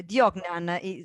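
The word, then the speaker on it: Vodnjan: Diognan would be the right Croatian pronunciation.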